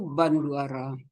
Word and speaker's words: Bandura: kalau bu Hani itu banduara nama tulisannya bandura tapi dibacanya itu banduara kalau saudara buka itu